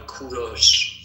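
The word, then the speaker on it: کوروش: English people call him Cyrus. But in Persian we call him Kuros.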